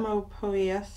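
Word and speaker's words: Psalmopoeus: The P is silent. I obviously know that. Salma. There's a couple of ways you can say it, so it doesn't matter. Salmopoeus. I say Salmopoeus, some say Salmopoeus.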